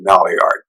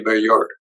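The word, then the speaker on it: Maillard: don't pronounce that correctly it's a French word but but I'm from Philadelphia originally so we pronounce it malard but it's really mure what is that well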